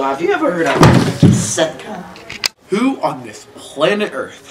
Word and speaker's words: SETCA: Now, have you part of Set Club too? Yes, but it's pronounced Setca, you good-for-nothing idiot. Jeez, I'm sorry, it's Setca.